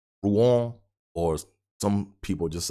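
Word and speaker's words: Rouen: to uh Ruan like At first I was pronouncing it ruin it's not ruin and it's it's pronounced Rong or some people just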